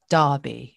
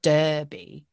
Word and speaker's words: Derby: wow sounds really different so it's not er it's ah exactly and then how